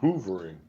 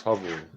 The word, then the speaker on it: hovering: Some people pronounce it hoovering, but there's only one O, so it's hovering.